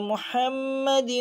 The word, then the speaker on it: মুহাম্মাদি: ওয়া মাওলানা ওয়া মাওলানা মোহাম্মাদি ওয়াও কে ধরবে মোহাম্মাদি মোহাম্মাদি বলুন আবার মুহাম্মাদি আমরা অনেকে মোহাম্মাদি এখানে কিন্তু এটা লম্বা হা গলা থেকে উচ্চারণ হবে মুহাম্মাদি ওয়ালা আলিহি ওয়াসাল্লিম